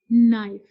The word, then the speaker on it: knife: In English language, always remember whenever K comes before N, we will not take the sound of K.